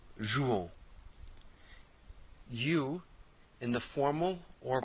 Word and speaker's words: jouons: So to say we play, we say nous jouons, O-N-S, so that O-N-S is pronounced on, nous jouons.